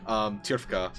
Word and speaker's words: Tirfka: Yeah, that's how it's pronounced. Tirfka. Correct.